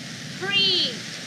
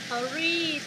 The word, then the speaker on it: three: Đúng rồi, nhiều bạn thờ ri, thờ gì? Các loại bàn thờ. Đấy. Nhưng mà hôm nay cô sẽ dạy các bạn cách đọc âm này nó dễ nào.